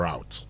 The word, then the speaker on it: route: The Americans say either root or route.